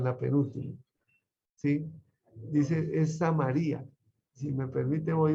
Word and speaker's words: Samaria: Porque es que en griego y en hebreo se tiende a poner la tilde en la última sílaba o en la penúltima. ¿Sí? Dice, es Samaria.